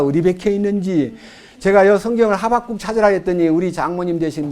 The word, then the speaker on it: 하박국: 분이 저한테 와서 성경에 호박국도 있어? 하박국이라는 말은 포옹한다는 뜻이에요. 근데 너무너무 신기한 성경을 찾아보자 하니까 호박국이 성경에 다 있나? 어머니 하박국이에요. 제가 발음이 좀 나빴나 봐요.